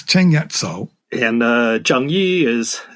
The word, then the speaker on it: Zheng Yi Sao: extortion you uh you you use the uh cantonese pronunciation in your book you don't call her changi saul no she's ching yet so and uh jang yi